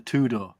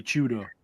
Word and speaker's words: Tudor: So it's actually pronounced. Imagine like the first four letters of Chewbacca. It's actually Tudor. What? Tudor. That's how you say it. Tudor. You don't say the T? Tudor? No, Tudor. Oh, Tudor. No, like chew.